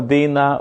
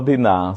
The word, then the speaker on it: Dina: y una niña que se llama Dina o Diná, según como cada quien pronuncie.